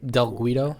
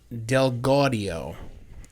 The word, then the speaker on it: Del Gaudio: So, in and of itself, it's going to be hard to describe, but Derek It's like Guadagnino, or Del Guido.